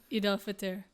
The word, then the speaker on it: Eid al-Fitr: How do you pronounce this? Eid al-Fitr.